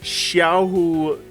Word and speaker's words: Xiahou: to talk about uh Xiao Dune now I I think I mispronounced the X in a previous video I think the x is a sh sound so let me know